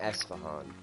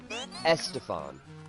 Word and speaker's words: Esfahan: I don't remember anything about it other than the name Esfahan. I remember it was like a capital city somewhere, and she kept pronouncing it Estefan.